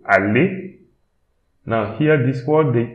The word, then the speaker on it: aller: Then again, E-R, pronounce it E. So, aller.